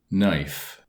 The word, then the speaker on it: knife: public domain table 33 the following words illustrate silent K G WB l T and G H knee Neil knelt now knit knife not knock knob new